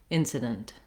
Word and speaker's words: incident: the letter i so you can think of it as being very short and reduced like didn't rather than dent with a true e vowel you just want to